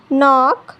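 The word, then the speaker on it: knock: जब के बाद एन आता है तो के साइलेंट होता है और साउंड केवल एन का मिलता है। जैसे यहाँ देखिए के बाद एन आया है तो के साइलेंट होगा, साउंड केवल एन का मिलेगा।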